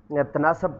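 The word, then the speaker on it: تناسب: आने वाले मसादर जैसे तनासुब, ठीक है जी, तनासब पढ़ देते हैं, इस तरह गलत हो जाता है, तो ऐसा जो इसकी प्रोनाउंसिएशन है ओरिजिनल उर्दू के अंदर जो है अरेबिक से डेरिवेट करने के बाद वो क्या है, तनासुब।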